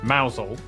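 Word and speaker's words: Mousehole: to ramp Ransom then down to mous hole mous hole next travel North after toester to then a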